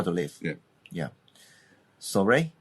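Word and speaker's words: soirée: Soiree? Soiree, yeah.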